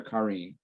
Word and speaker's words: Karine: And Karen, sorry, is it Karen or Karine? So I'm Karine, rhymes with marine.